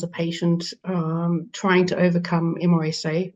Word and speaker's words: MRSA: These are this is information that I felt, when I was a patient trying to overcome MRSA or MRSA, as some people pronounce it.